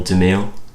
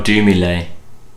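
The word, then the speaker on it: Dumile: he's just doom sometimes he's daniel damiel no but well maybe i don't know oh do me lay oh okay that's how it's pronounced that is but yeah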